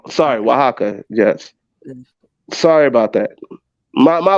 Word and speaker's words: Oaxaca: Oaxaca, I think that's what it is. I'm not even gonna mess. It's pronounced Oaxaca. Sorry, Oaxaca.